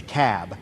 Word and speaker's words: Cobb: the room it's the cab not the Cal not the cob it's the cab so we got to